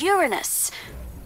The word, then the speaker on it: Uranus: maybe they come from Uranus ah that's funny I don't mean to be approved but please no jokes about Uranus besides the proper pronunciation is Uranus it's a ductal sorry